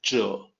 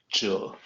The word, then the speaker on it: 者: actual Mandarin pronunciation is Jill not exactly like Z but Z is the closest we got Jill what does it mean